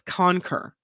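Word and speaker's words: conker: world canker conquer Scandal it's co CER the pronouncer says conquer and this is a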